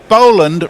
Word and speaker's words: Boland: Should Boland rhyme with Roland or Holland? With Roland. It's Boland, not Boland.